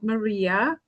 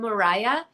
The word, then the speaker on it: Moria: So welcome, Maria. I'm very happy you're here. Hi, thank you. Thank you. I actually pronounce my name Mariah, even though Mariah. Oh, sorry. it is spelled Maria.